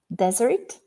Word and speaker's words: desert: that do you know this pair desert and desert it slightly different accent have ever been to